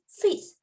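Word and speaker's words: fils: It's fees. Fees. The L is silent there. Fees. We pronounce it as fees.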